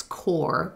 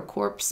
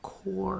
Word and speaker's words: corps: like, oh, you're a corpse member. And it's like, I'm not. No, I'm not dead. I'm a core member. The yeah. P is silent.